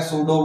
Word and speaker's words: pseudo: अब भाई ये इंग्लिश वालों ने बना रखा है, वैसे तो ये सूडो है, लेकिन इसको बोला क्या जाता है सूडो बोला जाता है, क्योंकि इसमें पी क्या रहता है साइलेंट रहता है।